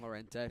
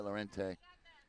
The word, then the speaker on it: Lorente: How did you pronounce his name, Lorente? Lorente. Yeah, Lorente.